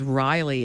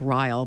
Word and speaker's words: Ryle: And I was reading, I actually pronounced his name as Riley in my head, and I don't know why, because I didn't like Ryle.